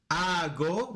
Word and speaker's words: hago: Hago, remember the H is silent, hago ejercicio o hago ejercicios, both work.